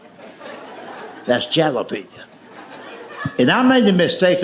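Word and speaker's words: jalapeño: That's jalapeno. And I made the mistake of trying to explain that to him. I said, I know it's a J, but it's pronounced with an H.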